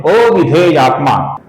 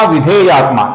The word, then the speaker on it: अविधेयात्मा: कुछ लोग विजितात्मा विधेयात्मा ऐसा लिखते हैं और पढ़ते हैं। कुछ पाठों में भी आपको ऐसा पढ़ने को मिलेगा, विजितात्मा विधेयात्मा। किंतु यहां पर विजितात्मा के बाद का नाम असल में अविधेयात्मा है, जिस कारण से अविधेयात्मा